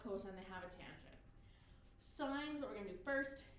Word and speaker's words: sine: about it but um it's not cine or anything it's not sin it's a sign like literally like a stop sign so then it's cosine